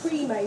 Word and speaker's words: PREMAE: Might even be on the back of the card, because it's pronounced Pre-May, but it's spelled Pre-May.